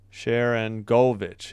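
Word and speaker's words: Sharangovich: I think it's Sharon Govich. Let me double check though. Sharon Govich. Yeah, I just emphasized the go.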